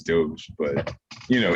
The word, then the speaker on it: Dogecoin: yeah like and like the way it's supposed to be pronounced i guess is doge but you know it's